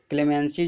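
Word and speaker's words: clemency: क्लेमेंसी जो है noun की तरह यूज होता है। इसका जो प्रोनाउंसिएशन हो जाएगा क्लेमेंसी हो जाएगा, क्लेमेंसी।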